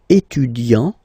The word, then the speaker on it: étudiant: Il est étudiant. Okay, A-N-T, étudiant.